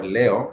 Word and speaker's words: leo: Leo is spelled the way you would pronounce Leo, like the star sign, Leo.